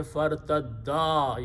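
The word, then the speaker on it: فارتدا: Very important thing is that we don't pay attention of correct pronunciation. If we did not stretch a little bit, it will sound like one person returned. So you have to say fartadda. You have to stretch this alif, not like a mud,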